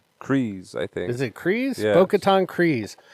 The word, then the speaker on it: Kryze: Is it Kryze?